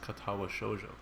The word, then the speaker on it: Katawa Shoujo: playing uh katawa shoujo it is pronounced katawa shoujo a sweet japanese what